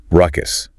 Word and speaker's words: ruckus: The pronunciation is simple. Ruckus. Just make sure that first U is unstressed.